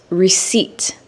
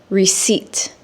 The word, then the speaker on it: receipt: But when a native English speaker says receipt, the P is silent or it's omitted, which means it's removed.